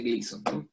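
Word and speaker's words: Glisson: cápsula de crisis son se escribe así con la razón pero se pronuncia cápsula de gleason entonces es de la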